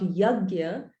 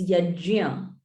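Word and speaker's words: यज्ञ: So it's not yagya, it's yajya. Because But it's usually we say yagya. Yes, so that's yagna, or yeah. we say yagna. Yeah, so it's yajya.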